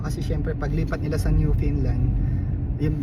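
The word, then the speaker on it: Newfoundland: syempre paglipat nila sa new Finland yung new new Finland pala yung pronunciation doon mga guys may nag-correct sa akin kasi nasanay ako na new foundland pero hindi daw yun yung bigas So yun nga pagpunta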